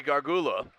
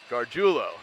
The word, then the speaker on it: Gargiulo: the 28 yard line today I pronounce that Gargiulo it's how you pronounce that that was a tough